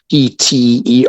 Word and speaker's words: pterygoid: It's spelled P-T-E-R-Y-G-O-I-D, pterygoid. You don't say the P, otherwise you'll spit on someone.